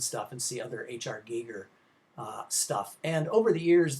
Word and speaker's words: Giger: was designed conceptually by Swiss artist H R Giger as it's pronounced and full of lots of very disturbing